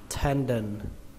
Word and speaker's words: tendon: Từ này có nghĩa là lách, gân thì các bạn đọc là tendon, tendon.